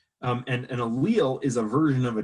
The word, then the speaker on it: allele: gene is called allele and i've heard people pronounce that allele or allele or whatever it's it's an allele and an allele is a version of a gene so it's